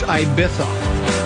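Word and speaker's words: Ibiza: Apparently, it's pronounced Ibitha.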